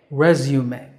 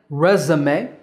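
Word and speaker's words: résumé: resume in British English it's pronounced resumes read zu may resume so American resume and British resume number nine is another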